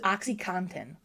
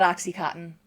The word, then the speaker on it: OxyContin: It's not. It's Oxycontin. Get out. It's Oxycontin. Oh, it's not cotton? It's not Oxycontin.